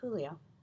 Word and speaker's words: Julio: Flores pronouncing it Julio that was the correct way to say the name in Spanish several kids left they had never heard Julio's name pronounced without the je mr.